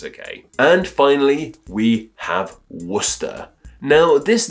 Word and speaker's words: Worcester: like the previous names what's odd about this one is how it spelled versus how it's pronounced despite being said like Worcester it is spelled w-o-r-c-e-s-t-e-r